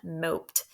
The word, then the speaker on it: mope: sad you're moping around moped m we need the long o mope now we don't want it to say mop right we need that silent e so this is now